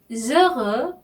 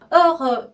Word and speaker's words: heureux: 자, heureux 또 나왔어요. heureux. 그죠? 나는 행복합니다. 이 말이죠. 자, heureux에 이 아슈가 또 나왔어요. 여기도 모음 아슈이기 때문에 je suis heureux 이렇게 발음하시면 돼요.